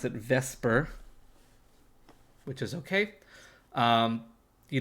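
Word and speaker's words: VSEPR: uh even though it's written the supper people pronounce it vesper which is okay um you don't need to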